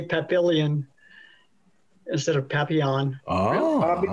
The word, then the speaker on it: Papillion: And this is Papillion, Nebraska. Papillon.